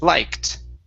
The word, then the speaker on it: liked: Right here, instead of liked, okay, this is a T sound. The ED is a T. Liked.